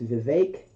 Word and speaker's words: Vivek: It's Vivek, like cake.